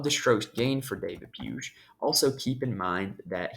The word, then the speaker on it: Puig: on the broadcast and I'm pretty sure it's pronounced puge I think I think I did that right David puge um so anyway he was really good in